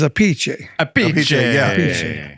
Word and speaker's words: Appice: just found out you're the way you really pronounce your name is AI right yeah Ace well a piece aie the Italian is a piche a but you changed it